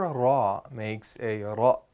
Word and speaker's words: ر: Ra is pronounced by putting the tip of the tongue against the front of the hard palate while rolling out air.